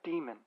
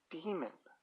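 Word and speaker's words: dæmon: we weren't sure before the pronunciation seems to be demon which is how will says it I don't know what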